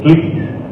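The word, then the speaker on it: θλῖψις: Y es difícil de pronunciar, pero es tlipsis.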